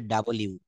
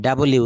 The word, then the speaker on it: W: না এটা বলতে হবে ডাব্লিউ এই ওয়ার্ডটা হ্যাঁ হ্যাঁ ডাব্লিউ না কিন্তু আমাদের গ্রামের স্কুলগুলোতে পড়ানো এক্স ওয়াই জেড ডাব এক্স ওয়াইজেড আমরা আমাদের টিচাররা ডাব বলে ডাব না এটা উচ্চারণ হবে ডাবলিউ যেগুললা বেশি মনে রাখতে